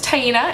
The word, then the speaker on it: Taina: My name is Taina. It rhymes with hyena.